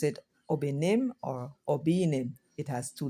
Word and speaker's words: Obinim: also can be pronounced Obinim. Nobody knows who I am. What she's saying is that the same word has two different meanings depending on how you stress. So if you pronounce it Obinim or Obinim, it has two different meanings.